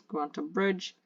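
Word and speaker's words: Grantebrycge: It's spelled really weirdly in Old English or Middle English. It's spelled as Grantebryce, but I think the pronunciation is Granta Bridge.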